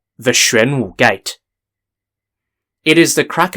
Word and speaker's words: Xuanwu: because today's topic will be about the famous shren gate incident the shren gate incident is set in the year 626